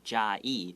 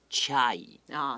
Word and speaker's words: 嘉义: And as an American, if I saw how we spell 嘉义, I might pronounce it chai. 这是英式的美国的发音方式是这样。 Right, so if you meet a foreigner, a Westerner who says chai, just know that he's trying to say 嘉义.